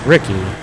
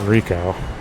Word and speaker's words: Ricky: Kind of wonder if Jim is on purpose programmed to mispronounce people's names, because it's Ricky, not Rico.